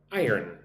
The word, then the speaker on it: iron: Say the word iron like this. I earn iron.